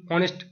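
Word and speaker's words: honest: সি ইজ AND অনেস্ট girl, তখন এইচের উচ্চারণ হ হয়, হ হয় না, অ হয়, অ। এইচের উচ্চারণ হ হয় না, অ হয়, তখন হয় যেখানে অ্যান।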